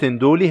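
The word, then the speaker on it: ⲉⲛⲧⲟⲗⲏ: نيكن دولي معناها وصاياك، وكلمة اندولي هي كلمة يونانية الأصل، وحرف الطاف هنا تنطق دال لأن بيسبقه ني.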